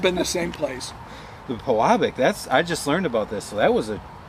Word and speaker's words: Pewabic: Pewabic, yeah. Pewabic. I try my hardest to get these pronunciations.